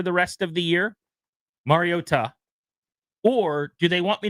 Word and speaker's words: Mariota: We We were mispronouncing his name. So, here's what I said. MARIO TA the broadcast team tonight.